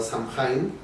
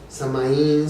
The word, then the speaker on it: Samhain: Entonces, bajo el nombre de Samonis o Samhain, que tiene varias pronunciaciones, Samaín, Samhain, y bueno, significa el fin del verano.